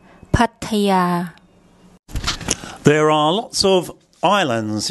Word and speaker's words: Pattaya: yak Y consonant and this final vowel is actually long part a yeah so once again I'll get my wife's to give you the correct pronunciation Pattaya Pattaya Pattaya there are lots of